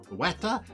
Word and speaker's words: Ceuta: It's spelled Ceuta. I think it's pronounced Ceuta.